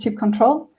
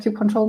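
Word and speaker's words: kubectl: another CI tool called Cube control um pronounced differently by different people I I enjoy calling it Cube control myself it just flows for me um and Cube control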